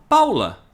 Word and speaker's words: Paola: Paulo, quer dizer, se escreve Paola e se fala Paula.